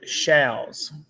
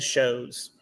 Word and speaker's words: Shals: Okay, so our last name is technically Shals. Shals. But nobody knows how to say it, so we changed it to Shows so everybody can say it right.